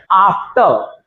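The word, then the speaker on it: after: आफ्टर, आफ्टर, मैं रा नहीं बोल रहा हूं, आफ्टर,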